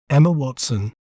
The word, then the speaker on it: Emma Watson: We may pronounce it as Emma Watson.